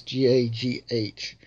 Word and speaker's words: gagh: The right pronunciation of gaw is GAGH.